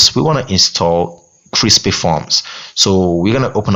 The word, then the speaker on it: crispy: It's not crispy, it's crispy, because I always mistake that a lot when I was starting out using crispy forms.